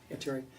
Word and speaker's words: Viteri: Viteri, is that how you pronounce it? Viteri, did I have it wrong? Yes. Viteri.